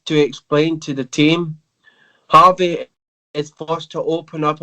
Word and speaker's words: Jarvis: Well, it's Jarvis' real dad, but it's actually in the show is pronounced Harvey for some reason. I wonder why they pronounce it as Harvey when. Is he Latino? Yes. That'd be why. That's how they pronounce their James.